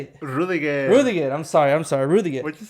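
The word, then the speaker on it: Rüdiger: when one of the players hit, was it Kudegar? When they made this, no, how do you say it? Rudiger.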